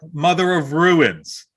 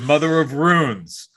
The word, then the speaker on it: Mother of Runes: It is not Mother of Ruins. It is Mother of Runes.